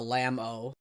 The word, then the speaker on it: LMAO: Someone just asked in the UI Discord, they're like, how do you pronounce LMAO? And I'm just like, I just say Lamau. And then someone said, Lamao. Oh, Lamau.